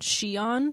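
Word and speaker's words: Xion: character in the game called shion but it's spelled x i o n so like i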